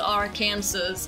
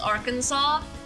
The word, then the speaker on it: Arkansas: Arkansas is spelled like Arkansas but it's not pronounced our cancers it's pronounced Arkansas and when I found out about that for